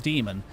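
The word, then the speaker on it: daemon: It's written Damon but pronounced demon.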